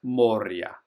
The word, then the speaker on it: Moria: Moria is actually pronounced Moria.